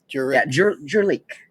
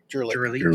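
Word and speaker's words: Kurelik: Yeah. Jurlic. Jurlic. K-U-R-E-L-I-K. Yeah. Yeah. It's the first time we've said it out loud. So that's how it's pronounced.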